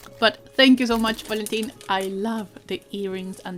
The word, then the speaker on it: Valentín: Also, I'm just realizing I'm calling him Valentin, very Latin American pronunciation.